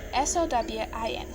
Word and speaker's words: Samhain: So it's spelled Samhain, but it's pronounced Sowwin. Sowwin.